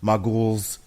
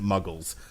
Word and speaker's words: muggles: I don't hate be I love the way he pronounces muggles everybody in the six films that pronounces it mughals mughals all right the modules look it's